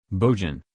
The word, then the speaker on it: Bojan: Bojan, pronounced Bojan, possesses impressive training and credentials.